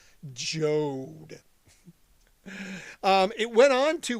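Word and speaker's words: Joad: 1995, Bruce Springsteen released album number 11, The Ghost of Tom Jode, spelled like Toad but with a J. Jode.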